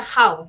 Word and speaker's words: How: decían h o no el How se pronuncia How con j s How old are